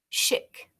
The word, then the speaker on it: chic: And this one, yes, it is pronounced as sh.